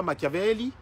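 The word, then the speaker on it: Machiavelli: question maiavel Nicolas Nicolas Nicolas maiavelli hein je prononce en italien bonjour Bon donc continuez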